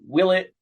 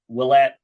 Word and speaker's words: Willett: both teams getting points it is Danny Willett Willette however you want to pronounce it you guys are both correct so the theme linked